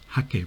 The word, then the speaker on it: hake: use the japanese style hakke brusher if you prefer you can pronounce it as a hake brush and it's usually made